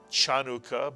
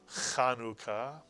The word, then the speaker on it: Chanukah: Anytime you see a CH in English transliteration of Hebrew, it is pronounced not ch, and therefore this word is not Chanukah, but Chanukah.